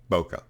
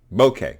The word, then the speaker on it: bokeh: really bad mocha bouquet bokeh bouquet bouquet it's pronounced bokeh not bouquet and not bokeh but